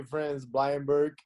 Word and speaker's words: Vrenz Bleijenbergh: In English, I will say Vrenz Bleijenbergh. I will say that. I think it's most easy. But if I say it in Dutch, it will be Vrenz Bleijenbergh.